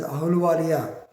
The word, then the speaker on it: Ahluwalia: Normally pronounced him as Ahluwalia of Madhya Pradesh High Court in XXX versus State of Madhya Pradesh and others.